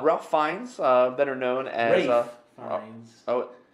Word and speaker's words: Ralph: Ralph Fiennes, better known as Rafe Fiennes. oh, It's spelled Ralph, but apparently he pronounces it Rafe.